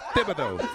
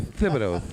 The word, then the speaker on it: Thibodeau: Thibodeau. Thibs. Let me get some Thibs. You got to have a lisp to say his name. Thibodeau.